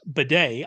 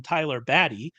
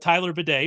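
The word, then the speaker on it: Badie: Tyler uh which I've now figured out is pronounced Beday I always called him Tyler baddy um which I like more because that's more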